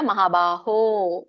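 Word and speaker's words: महाबाहो: ಮಾತಾಜಿ ಹರೇ ಕೃಷ್ಣ ದೀರ್ಘ ಇದೆಯಲ್ಲ ಮಹಾಬಾಹು ಸ್ವಲ್ಪ ಎಳಿಬೇಕು ಅಷ್ಟೇ ಮುಗಿದಿದೆಲ್ಲ ಸರಿ ಇದಾನೆ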